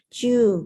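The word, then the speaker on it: 中: Naka tapi dibacanya di sini chu menjadi shio chu, kemudian boshu chu dan shigoto chu ya.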